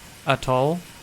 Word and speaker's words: atoll: Press the I'm gonna call it a toll. I'm just gonna say it wrong.